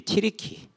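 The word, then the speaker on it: Türkiye: 알고 보니까 6월 달에 터키라고 우리는 있는데 그게 이제 튀르키, 원어 발음은 튀르키, 튀르키인, 그 나라의 땅, 그 땅에는 튀르키인들이 한 75% 정도를 살고 있고요.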